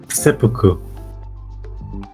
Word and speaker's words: seppuku: How do you pronounce it then? Seppuku. Oh, you weeb. No, that's just how it's pronounced.